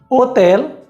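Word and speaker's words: hotel: पहला नियम, स्पेनिश में आचे की कोई आवाज़ नहीं होती है। आचे no tiene sonido। इसका ये मतलब है कि कोई भी शब्द अगर आचे से शुरू होता है तो हम वहाँ पर आचे का उच्चारण नहीं करेंगे। उदाहरण के लिए ओला, जिसका मतलब होता है हेलो या नमस्ते, हॉस्पिटल, जिसका मतलब है अस्पताल, होटल, जिसका मतलब है होटल। तो इन सारे ही शब्दों में हमने आचे का प्रयोग नहीं करा है।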